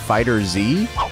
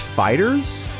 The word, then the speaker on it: FighterZ: Also, Bandai Namco said that this game is not pronounced FighterZ. It's pronounced Fighters, but we're just going to call it FighterZ, because that's what it's called.